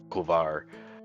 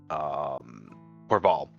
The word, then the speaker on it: Corval: Kuvar, which is not the correct pronunciation because why would I do that right? Corval.